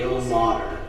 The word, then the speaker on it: Ilmater: What do we say the pronunciation of the god's name? Ilmater.